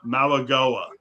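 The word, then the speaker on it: Mauigoa: Malagoa. Malagoa. That's what I got the said. phonetic spelling.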